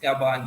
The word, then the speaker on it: Gabon: Gabon, yes.